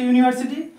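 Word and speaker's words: university: বুঝতে পারছো না এখানেও ইউ দিয়ে শুরু হচ্ছে ইউনিভার্সিটি আর এখানেও ইউ দিয়ে শুরু হয়েছে আমব্রেলা কিন্তু উচ্চারণটা এখানে হচ্ছে ইউনিভার্সিটি ইউ উচ্চারণ হচ্ছে আমব্রেলায়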